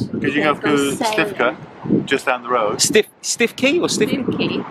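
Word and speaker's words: Stiffkey: Because you can go to Stifka, just down the road. Stifki? It's called Stifki, but it's pronounced Stifka.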